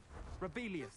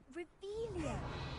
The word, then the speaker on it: Revelio: Rebellious. Saying it wrong. Ugh, Revelia.